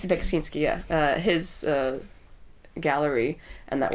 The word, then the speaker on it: Beksiński: but, you know, when I was in Poland recently, I went to I can't pronounce his name, Beskiński. Beksiński, yeah.